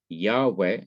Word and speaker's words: Yahweh: calling the divine name yahweh or yahweh is thought to be the correct pronunciation of god's personal name but when the inseparable